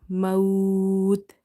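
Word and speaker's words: الموت: Last letter is silent and second last letter is your lean letter. So you will stretch up to 3 alif. Maut, like this.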